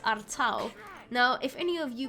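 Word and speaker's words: Artaud: spelled are towed apparently it leans a bit towards the french side and is more pronounced artau now if any of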